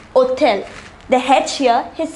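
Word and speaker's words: hôtel: however it is pronounced othell the hatch here is silent this is called a h mute for words that begin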